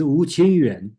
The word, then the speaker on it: Wu Qingyuan: yeah, Wu Qing, I believe it's Wu Qingyuan, so.